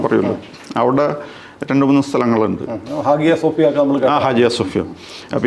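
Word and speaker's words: Hagia Sophia: ഗലാത്തിയും ഈ പറഞ്ഞ സ്ഥലങ്ങളിൽ ഹാജിയ സോഫിയ ആണ് ശരിയായ ഉച്ചാരണം അല്ലേ ഹാജിയ സോഫിയ എല്ലാവരും ഹാജിയ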